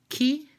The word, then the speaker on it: chi: Oh II for example CH I sounds key and it means who and for example G